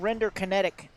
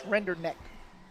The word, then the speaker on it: Renderneck: Yeah, I used to call him Render Kinetic because I didn't really pronounce it correctly, but it's Renderneck.